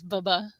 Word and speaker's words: BHBBH: Oh, Nicole says we pronounce BHBBH as bubba.